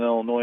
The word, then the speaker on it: Illinois: Yeah, well, you got to be real careful because people in Illinois are going to hear this. Oh, okay. Make sure your S is silent.